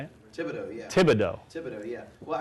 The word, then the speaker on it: Thibodeau: Thibodeau, yeah.